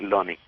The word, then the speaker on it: Lonnie: con L, Lonnie, Lonnie.